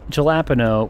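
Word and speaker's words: jalapeño: Pronounced jalapeno with more H.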